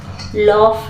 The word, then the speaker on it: laugh: तो हा हा हा ल फ लाउडर देखिए लॉफ जी एच को लॉफ में लॉफ मतलब हसना जी एच यहां प फ पढ़ा जाता है तो हा हा